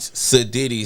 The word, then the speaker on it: Siddy: And it's Siddy.